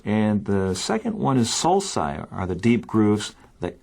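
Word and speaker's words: sulci: the round features and the second one is solai are the Deep grooves that cover the surface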